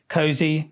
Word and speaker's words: KOSI: Cozy. Yes. We were trying to work out what to come up with and then Ko Ko nil. Yeah. Si Si. Cozy. Get cozy.